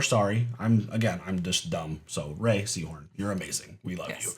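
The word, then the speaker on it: Rhea Seehorn: Her name is pronounced Ray Seahorn.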